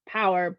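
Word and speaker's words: PowHer: day yeah so interest so the event is called power and there is an h in front of the e so pow her so we pronounce it just power but it is a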